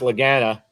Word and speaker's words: Lagana: offender of saying it wrong but it's it's pronounced lagana but he'll my me and Bob's uh Laura